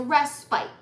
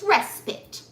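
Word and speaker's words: respite: of swords is a rest bite as Jordan looked it up and it the pronunciation is respit awful I don't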